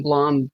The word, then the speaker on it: Blum: I try to watch a few interviews, and presenters alternate between rhyming with plum and rhyming with plume. So it's fucking potato. But Blumhouse posted on Twitter back in 2012 saying it's Blum like plum.